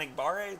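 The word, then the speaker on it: Enagbare: on day three ben eckhart says kingsley and igbarre that's how you say it right yep uh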